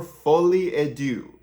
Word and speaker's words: Folie à Deux: and call it by its actual name Joker fully ad do okay that's how you pronounce it you're welcome not that I'm a good linguist at all I'm just I'm just saying so Joker fully Ado I just saw the movie two days ago